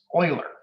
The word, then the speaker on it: Euler: that however i am 100 certain on the pronunciation that is euler all right so euler paths and euler circuits